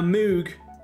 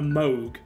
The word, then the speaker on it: Moog: can reveal that a Moog is in fact and I'm pronouncing it horrifically by the way it's actually like a Moog like Vogue you pronounce it but it is it's